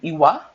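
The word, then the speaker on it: lwa: So in Haitian voodoo, Ezili Dantò is a spirit or an iwa, is how you say it.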